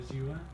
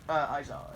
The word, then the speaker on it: Aizawa: Azua, because Aizawa? if he's Aizawa. Oh, say his name right. Azua. Aizawa, yeah.